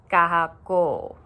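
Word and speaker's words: kahakō: So kahako has a kahako above the O at the end, which would make it kahako. So it's just slightly longer in pronunciation.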